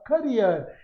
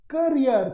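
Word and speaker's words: career: I admire the dash days of our childhood when we were not worried about our करियर, इसकी right pronunciation क्या है जी, करियर, कैरियर नहीं, करियर।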